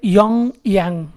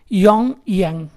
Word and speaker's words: Pyongyang: इसके बाद है नॉर्थ कोरिया, नॉर्थ कोरिया का कैपिटल है योंगयांग, लेकिन स्पेलिंग PYONGYANG ऐसा है, योंगयांग।